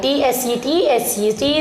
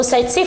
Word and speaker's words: Tsetse: Tsetse is silent.